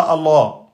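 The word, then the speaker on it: الله: Donc on prononce Allah. Le nom d'Allah, il y a toujours une shida sur le lem. Donc c'est pas Allah.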